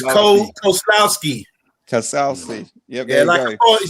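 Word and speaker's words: Kozłowski: team he plays for does anyone want to pronounce the name it's cole koslowski yeah he's like a bond villain but yeah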